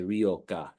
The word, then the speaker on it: Ryokah: name, Ryokah or Ryokah, depending on how you like to pronounce it. The Y is given more of an E sound, and that's why we say Ryokah.